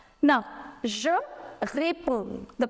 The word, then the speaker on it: réponds: Now, je réponds, the pronunciation. Je réponds, tu réponds. You do not pronounce this D and S, no.